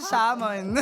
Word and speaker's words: salmon: It was a salmon. Sa salmon. Oo. Diba? Yung salmon, hindi mo maintindihan bakit hindi pinapronounce yung letter L.